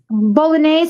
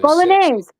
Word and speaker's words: Bolognese: Um bologn sauce, you know the tomato sauce with meat or marinara or marinara sauce.